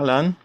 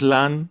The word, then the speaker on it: Lã: Lã, because many people around the world doesn't have this Lã sound.